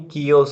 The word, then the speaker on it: chaos: इसकी pronunciation केओस नहीं, कियोस होती है.